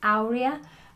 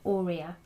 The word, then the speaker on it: Aurea: In European countries, this tends to be pronounced Aurea, whereas over here in Britain, it's more commonly Oriya.